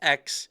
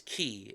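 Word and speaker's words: χ: Yes, not Kingdom Hearts X, Kingdom Hearts Key. It's an X it's spelled c h i.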